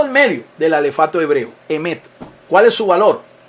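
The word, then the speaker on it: אמת: Ahora, la palabra verdad en el idioma hebreo es el vocablo emet.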